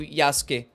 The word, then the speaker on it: Yasuke: Trazendo Yasuke, na pronúncia do japonês, né?